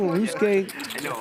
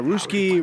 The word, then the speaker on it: Ryusuke: Now he's pronouncing Ryusuke correct. Exactly. What I mean, listen, Ryusuke himself will actually come on and be like, "How do you ask him? How do you say your name?" And he goes, "I don't care. Ruski, Rui, Rocky, whatever." Well, I called him Ruski one time and he slapped me and said it's Ryusuke.